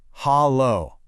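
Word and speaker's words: Hallo: It's pronounced hollow.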